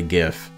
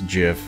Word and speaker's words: GIF: no that's not true it's actually gif you want to know how i know it stands for like graphical interface format or something like that and graphical i mean you wouldn't pronounce it graphical right so i just eviscerated everybody who believes it's jif dude where is his